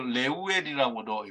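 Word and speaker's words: 르우엘: 모세의 장인이 나타났을 때는 루엘이라고 그렇게 그 이름을 불렀습니다 루엘이라는 또 레오웰이라고도 발음을 하기는 하는데요 왜냐하면 레우 친구라고 하는 그 단어와 엘 하나님이라는 단어가 합쳐져서 레오웰 혹은 로웰이라고 발음을 하는데요 하나님의 친구라는 말 나중에는이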